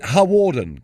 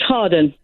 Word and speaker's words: Hawarden: Karen is a new caller from Flintshire from, is it Hawarden, Karen? It's pronounced Harden.